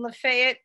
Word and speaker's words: Lafayette: thing about that word Lafayette it is only pronounced in that way right here in La Fayette County Mississippi everywhere else it's Lafayette which is the French way to say it of course good mark